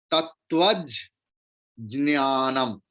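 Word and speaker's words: तत्त्वज्ञानम्: रहा है अ से, तत्व अ इज छोटा भावेल, तो इसलिए ज्ञानम का जो ज है वो और एक बार प्रोनाउंस्ड होगा, तत्वज ज्ञानम, तत्वज ज्ञानम।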